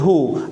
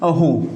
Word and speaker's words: who: it that this is who. You should think that the W is silent over here in this one, who, H-O, who, just like that, who.